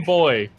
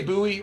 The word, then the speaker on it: buoy: Let's call him Boy. Oh. All right, that's dancing on the edge of something. That's even shorter. Spelled B-U-O-Y. Like buoy. Yeah. Do you say buoy or do you say boy?